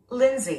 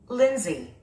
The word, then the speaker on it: Lindsay: 스트레스가 맨 앞에 있습니다. 린지. Lindsay. 네, 남자 이름입니다. Lindsay.